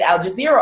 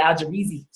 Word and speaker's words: Al Jazeera: used to look at Al Jazeera all the time, which gives us I said it right. I know. I used to call it Al Jazeera. But it's Al Jazeera.